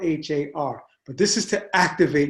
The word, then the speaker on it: Har: Har, Har. And it sounds like a H-U-D. It's spelled H-A-R.